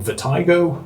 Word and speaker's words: Vertigo: ever use it because I call them vertigo. A lot of people call them vertigo, it's just a different way of pronouncing it, and it really doesn't matter which one you say.